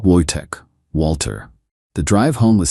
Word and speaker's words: Wojtek: It's Wojtek, but Americans hear it wrong.